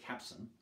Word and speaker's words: capstan: If you want to sound like an old salt, you should drop the T and pronounce it capstan. That's apparently what all the old sailors did.